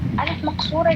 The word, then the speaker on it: ألف مقصورة: It's pronounced as ألف, like ندى, سلمى, على, هدى. Yes, it will go like ألف.